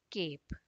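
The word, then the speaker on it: cape: इसी तरह से क ए प, ई साइलेंट, केप, हेट, केप।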